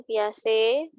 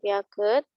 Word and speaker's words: Piaget: bacanya ganya ya kemudian piace bacanya biasa sih bukan Piaget kemudian scanner kemudian pavlov